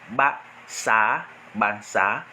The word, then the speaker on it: Basaa: Bassa s'écrit B-A-S-A-A. Donc il y a deux fois la lettre A. B-A-S-A-A. Deux fois la lettre A. Parce que deux fois la lettre A donne le son R.